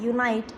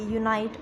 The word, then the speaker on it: unite: ही है, जैसे कि UNITE यूनाइट, UNIT यूनिट। अब देखो बच्चों इसमें ई आया है और इसमें ई नहीं है, सिर्फ यही अंतर है, लेकिन दोनों में कितना बड़ा इनका उच्चारण में विभिन्नता आई है या डिफरेंस आया है। UNITE यूनाइट और UNIT यूनिट। USEFUL यूज़फुल, यहाँ पर भी